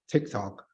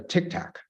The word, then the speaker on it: TikTok: When they were asking questions about TikTok, they couldn't even pronounce TikTok correctly. They pronounce it as a Tic Tac, which is chewing gum, as far as I understand.